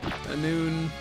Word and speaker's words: Annwfn: Annwfn.